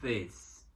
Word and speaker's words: this: Então a gente fala singular, this, plural, these. These. Então no singular, o I é pronunciado como se fosse um E. Então fala this. E no plural é som de I mesmo, these.